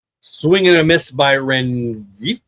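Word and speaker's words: Rengifo: Swinging a miss by Renie. Don't think the G is pronounced, but I did.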